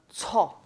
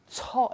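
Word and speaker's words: ཚོགས: That's the Wiley, but the way you pronounce it is TSOG or TSOK.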